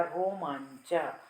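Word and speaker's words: रोमाञ्च: तथैव रोमांचा, रोमांचा में अनुस्वार के बाद च वर्ग आया है, तो च छ ज झ य, इसका जो अनुनासिक है वो क्या है? य। तो अनुस्वार की जगह पर य आ जाएगा, रोमांचा। तो ऐसे जो ब्रैकेट में लिखा है ऐसा लिखना पड़ेगा, रोमांचा।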